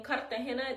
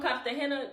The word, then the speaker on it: Cartagena: For example, a paisa will say Cartagena, and people from Cartagena don't pronounce their R's as much as paisas do. They'll say Cartagena, like without the R.